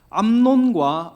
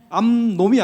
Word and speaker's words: 암논: 되었습니다 그 아들 중에 암논과 압살롬이 있습니다이 발음을 좀 주 주의해야 돼요 암놈이 아니고 암 논입니다 암 논이고 압살 놈이 아니고 압살